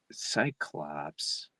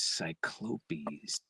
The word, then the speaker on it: Cyclopes: We did Cyclops, and it was Cyclopes. Oh, like, what the fuck are you talking about? Cyclops. Cyclopes. And I was like, I don't know where that comes from, but that was direct from the author.